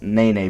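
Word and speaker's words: Nenê: stays in um okc nene goes to um i always thought it was in the name but it's nae nae technically you pronounce it he stays in new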